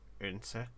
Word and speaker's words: Odense: Urdense, I believe, is a lot closer of a pronunciation. The D is gone. It's a little bit of a hiccup in the middle of the at the beginning.